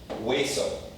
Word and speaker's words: hueso: want to pronounce it, most people know that this is silent in Spanish. Like hueso means bone, right? Hueso. Every time you see the H, just omit it. Pretend it doesn't exist.